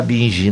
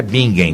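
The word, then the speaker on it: Bingen: E a gente fica meio triste quando vê alguém falar binge, né? Binge é horroroso, né? Falar binge, né? Binge é feio, né? Gente, é bingem, por favor, né?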